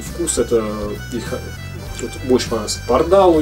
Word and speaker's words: Pardál: 7 Пардал, Пардал, в конце ударения, да, Пардал.